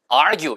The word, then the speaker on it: argue: 자, 그 다음에는 argue. 이것도 초급, 중급 사이 있는 단어죠. 야, argue, argue 이런 얘기예요, 그죠? 그래서 argue 이렇게 해서 argue 이런 식으로 gue 발음을 살짝 argue, argue. r도 길고 gue도 길게 해보세요.